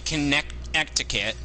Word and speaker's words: Connecticut: it's supposed to be it's supposed to be connect etiquette but we end up pronouncing it as though there's a D in there yeah Connecticut yeah you get it